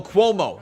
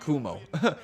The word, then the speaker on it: Cuomo: the last name pronounced cuomo like status quo then admo which was